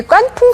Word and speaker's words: 깐풍: 두부를 튀겨 가지고 이제 깐풍 소스라 그러는데 여러분 아마 그 중국집에 가시면 많이 들으셨죠 풍기 아 그러니까 그게깐 자가 말이에요 우리가 좀 거센 발음으로 된 발음으로 해서 까이지 한문으로 하면은 건조할 건자요 그래기